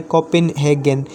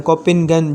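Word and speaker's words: Copenhagen: कोपेनहेगन या कोपेनगन, जिस तरह से आप इसको प्रोनाउंस करें आप कर सकते हैं, ठीक है।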